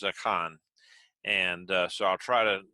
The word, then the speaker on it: Achan: if you uh again if you're from uh west texas that's going to be pronounced aiken and that's what i'll probably fall into but the hebrew pronunciation of it is a con and so i'll try